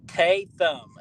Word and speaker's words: Tatham: Tatham is how you say it.